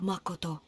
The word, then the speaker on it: Makoto: japanese way because like as regular english speakers we just be like makoto right with the kind of drawn out a and o sounds ma koto but then in in japanese like from what i understand you kind of stop you know the way you pronounce the each uh syllable i guess a certain way like it will be a sudden like stop like ma koto so that's why it's